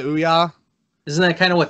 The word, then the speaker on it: Ouya: Didn't the Ouya, is that how you say it? Yeah, the Ouya.